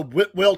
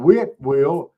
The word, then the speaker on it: Whitwell: Well, go to Whitwell, Tennessee, and pronounce it like that and see what they say. It's Whitwell. It's not Whitwell. It's Whitwell. There's a T in there.